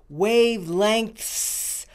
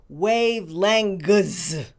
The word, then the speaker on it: wavelengths: it some people say wavelangus some people say wave lent the ng and the t-h sound are the difficult sounds here let's start with the